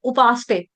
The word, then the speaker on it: उपासते: में क्या हो गया स आपने आधा कर दिया स आधा नहीं है उपासते सते सते स पूरा हम जब कहते हैं कि पार्वती माता सती हो गई सती में स पूरा बोलते हैं ना सती हो गई